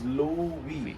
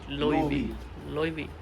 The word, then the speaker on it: Loewe: Okay, this is pronounced as Loewe. Loewe.